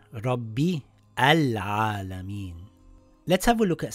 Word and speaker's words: الْعَالَمِينَ: word, it will read Al-Alamin. Al-Alamin. But if we continue reading the sentence, the Hamzatul Wasl gets dropped. So this will read Rabbil Alamin and not Rabbi Al Alamin.